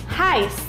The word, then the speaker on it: heißt: Y después sigue EI. ¿Te acuerdas cómo se pronuncia? Correcto. AI. AI. Luego tenemos la SZ que se pronuncia como una S. Y como en alemán, tenemos que pronunciar todas las letras, no nos olvidemos de la T al final. Así que toda la palabra se pronuncia de esta manera.